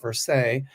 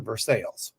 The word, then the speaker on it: Versailles: In France, it's pronounced Versailles. In Kentucky, they pronounce it Versailles. Versailles, yes. Perfect. Versailles in French. Yeah. Kentucky is Versailles.